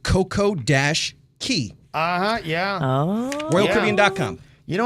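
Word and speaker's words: CocoCay: The proper pronunciation of Coco K is not key. The RCCL slogan is enjoy a perfect day at Coco K.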